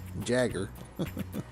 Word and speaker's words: Jaeger: Blue Info also noticed I learned that it's Jaeger, not Jaeger. So, spelled with a J. Jagger.